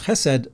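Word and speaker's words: chesed: what HED means and when you pronounce HED the the emphasis is on the and it has to be gutal this is what my Rabbi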